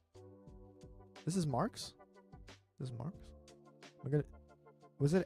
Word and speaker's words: Marx: This is Marx. Was it X? I don't know. But in Korea, instead of saying Marx, which is probably the proper pronunciation of Marx, we say it the Japanese way, which is Marx.